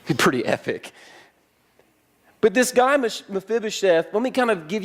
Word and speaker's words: Mephibosheth: And his guy, let's everybody say his name, Mephibosheth.